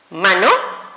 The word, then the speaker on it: mano: Entonces tenemos un ejemplo clarísimo como mano y la palabra cantan. Entonces, pronuncio correctamente la palabra mano. ¿Dónde sonó más? En ma. Y si ustedes observan la regla, terminó en una vocal.